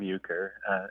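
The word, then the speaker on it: Euchre: was called ucer figs so this is spelled just like the card game uker and that caught my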